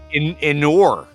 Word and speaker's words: inure: How do you spell it? INURE. Inure. Innuendo. IN. Living in the Northeast will inure you to cold weather. Inure. Inure. I think it's pronounced inure. Like manure?